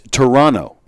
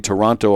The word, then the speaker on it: Toronto: was some Canadian DJ who informed him it's Toronto Toronto you don't say the T you the t is silent and sure enough then Dennis elses and